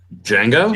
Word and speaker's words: Django: I'm just now thinking of freaking the Quentin Tarantino film with the D is silent. Django?